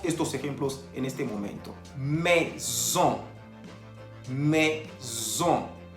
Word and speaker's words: maison: Maison. Maison. Se escribe M-A-I-S-O-N. Tenemos la presencia de la A-I que se pronuncia E y la O-N que se pronuncia ON. Por eso decimos maison.